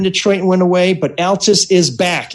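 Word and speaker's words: Altes: bugging him and he remembers it was always pronounced Altus not alus like alkaline he says anyway he says when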